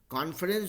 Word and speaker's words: conference: लेकिन कॉन्फ्रेंस जो है वहाँ पे कॉन ही होता है, उसको वैसे ही प्रोनाउंस करते हैं, ठीक है।